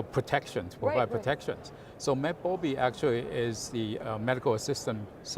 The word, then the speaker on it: MedBobi: So tell us about MedBobi, am I pronouncing that correctly?